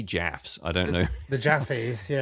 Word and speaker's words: Jaffe: I don't know the Jaffes. Yeah, it's Robert Jaff. Is it Jaffe? It's Jaffe.